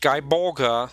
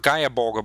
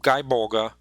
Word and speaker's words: Gae Bolga: cycle of Irish mythology pronounced guy bolga not Gaia bulga but guy bolga uh with the first word being more like guy than gay uh let's see I uh